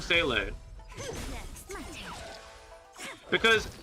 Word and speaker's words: Seele: seeing two different things where the German is supposed to be Seele. It's a more rough pronunciation with the H at the end syllable.